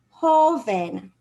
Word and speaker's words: joven: is precisely why okay hoven the long sound is on the o whole then it entered an n so the natural stress should be under oh and it is so we